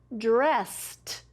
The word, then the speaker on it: dressed: If I add ed, that means I already got dressed, dressed. What do you here at the end? Listen, dressed. Yes, it's another T, the ed makes the T sound at the end of that word.